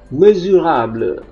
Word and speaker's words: mesurable: Oke, kemudian yang ini juga S, seperti pada video sebelumnya, kalau diapit huruf vokal dia dibaca Z, mesurable.